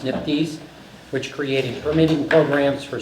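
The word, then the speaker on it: NPDES: Under its authority, the federal EPA established the National Pollutant Discharge Elimination System or NPDS, pronounced NIPDS, which created permitting programs for sources that discharge pollutants into US waters.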